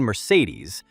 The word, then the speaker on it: Mercedes: A couple more characters are the phantom thief Phantom, and the elf queen Mercedes with the stress on the last syllable.